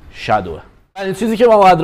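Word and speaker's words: shadow: و درست کار کنی خیلیا توی ایران بهش میگن شادو زدن جفتش درسته ولی تلفظ اصلیش توی انگلیسی شدو اولین چیزی که ما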